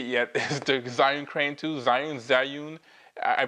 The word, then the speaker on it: Zhiyun: Today we have this, which you can't see yet, is the Zhiyun Crane2, Zhiyun. I pronounce it Zhiyun Crane2.